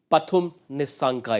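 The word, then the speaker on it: Nissanka: about Sri Lanka's opener a man whose name is highly mispronounced DK you know a thing or to pum nanka it is they get it wrong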